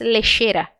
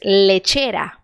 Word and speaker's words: lechera: português por isso que essa palavra aqui não se diz lixeira se diz leiteira e a mesma coisa